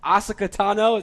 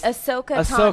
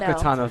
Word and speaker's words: Ahsoka Tano: Asuka Tano, that's the right way to pronounce it? Oh, no, it's hard. It's Ahsoka Tano. Ahsoka Tano, thank you.